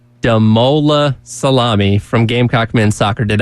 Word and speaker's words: Damola Salami: Our special guest today, I'll make sure I pronounce this name right, Damola Salami from Gamecock Men's Soccer. Did I say that right? Yeah, you did. Damola Salami.